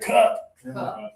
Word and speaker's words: cup: And now, pressure in your stomach, cup.